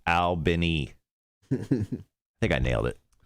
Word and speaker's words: Albany: Charles Albany in Georgia, pronounced Albany.